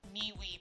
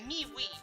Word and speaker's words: MeWe: Yeah, MeWe. Well, it's actually pronounced me and, like, M-E-W-E.